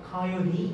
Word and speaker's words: coyote: The chase more difficult 또는 difficultly 어쩌고 보고 있는데 entirely 보다 coyote 이렇게 보고 있죠. 코요테라고 읽으면 쟤네들 모르더라고요. coyote라고 읽어요.